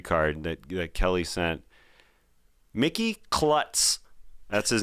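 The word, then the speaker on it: Klutts: that Kelly sent Mickey Klutz that's his name k-l-u-t-t-s it's not kloots it's possible it is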